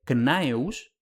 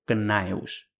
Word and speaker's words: Gnaeus: siguiente, por lo que es simple y llanamente imposible el nombre knaeus, porque la CN no puede estar en la misma sílaba. En cambio, el grupo GN homosilábico está bien documentado en palabras latinas como gnarus, gnatus, gnosco y por supuesto gnaeus.